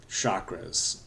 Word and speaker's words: chakra: and somehow it's become chakra. And I am guilty of this myself. I kind of think of it as a different language pronunciation of chakra.